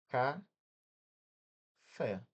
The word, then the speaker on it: café: Ca fé. Separei aqui, ó. Fé, a última levou mais tempo para pronunciar.